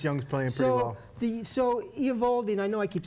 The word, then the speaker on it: Eovaldi: So Eovaldi, and I know I keep saying that name wrong.